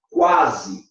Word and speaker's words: quase: Fique esperto, porque quando você pronuncia, olha essa palavra, quase. Quase. Tá vendo? Ó? Quase. Aí o U é pronunciado.